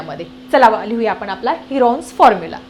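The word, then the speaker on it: Heron's: by using हिरो formula हिरो नाही बर का हिरॉन्स फॉर्म्युला हिरो सारखंच वाटतं त्याचा स्पेलिंग सो काय आहे तुमचा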